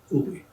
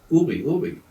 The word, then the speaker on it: Uhr: The German word for watch is Uhr, U-H-R, Uri. They couldn't pronounce that.